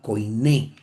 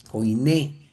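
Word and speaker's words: koiné: en un griego llamado Coiné. ¿Qué? Coiné, no coin ni Coine. Coiné, la verdadera forma como lo se podría pronunciar.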